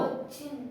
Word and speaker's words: ಕೊಚ್ಚಿನ್: ಚಿನ್ ಕೋ ಚಿನ್ ಅಂತಾನ ಒತ್ತಕ್ಷರ ಇದೆ ಒತ್ತೆ ಉಚ್ಚಾರ ಮಾಡಬೇಕು ಕೊಚ್ಚಿನ್ ಇದು ಬರಿ ಕೋ ಅಷ್ಟೇ ಕೋ ಅಲ್ಲ ಕೋ ಚಿನ್ ಚಿನ್ ಹೇಳಿ